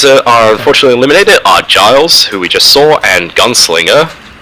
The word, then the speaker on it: Giles: Hats off, Giles. Yes. Yep. Yes. Hi, no one is believing me that Giles is pronounced with a soft G.